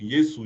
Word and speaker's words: Yesu: Et donc toujours en linga là le S peut devenir Z comme en français quand on dit cousin il écrit avec S mais se prononce avec Z. Donc Yesu Yesz c'est Jésus en lingala donc avec Z ou avec S.